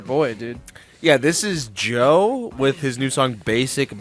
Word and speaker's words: Djo: this is your boy dude yeah this is Joe with his new song basic being basic um oh that's how you pronounce that yeah Joe it's um Joe k do you know about